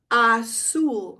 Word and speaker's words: azul: Azul. Remember the Z is an S sound.